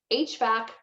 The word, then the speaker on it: HVAC: hvac technicians so um hvac is an abbreviation and we pronounce it the letter h so that's what this is here h and then back hvac and it's and